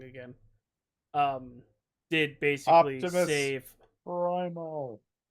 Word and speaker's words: Primal: Um did basically save Primal. Primal. I said Primeval, didn't I?